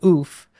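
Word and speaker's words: œuf: So I believe it is oof is how you say it, because my French teacher told me that, and she was not from France.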